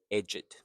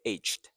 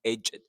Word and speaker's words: edged: So aged you have to use it's two syllable. H aged is correct. But here it's edged. So doubleedged. Uh you can also say aged.